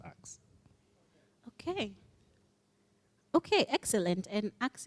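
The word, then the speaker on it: Axum: It's pronounced Axe.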